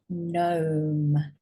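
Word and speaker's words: gnome: is Nash no and gome so I think this is an animal not new as in brand new so note again these letters silent g is silent when it's next to an N so download this sheet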